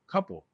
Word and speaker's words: Koppel: So I'm with Jimmy Koppel, is the right way to say it.